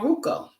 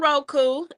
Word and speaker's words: Roku: And you forgot to tell us where it's on Ruko. Yeah, it's on Roku, and you can Ruko.